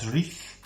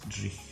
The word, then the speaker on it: dreich: And if you remember a couple of weeks back, we did a word and it was called dreich. Dreich, if you can say that. That is spelled D-R-E-I-C-H.